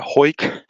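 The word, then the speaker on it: Hawick: exchanges with Jack and we're in uh hoyk which is spelled ha Wick with CK and we're we're walking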